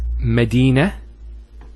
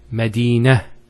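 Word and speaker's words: مدينة: I actually pronounced the ta marbota as a ha. Medina, Khadija. Now if I stop on the ta marbota, it's actually pronounced as a ha in both cases.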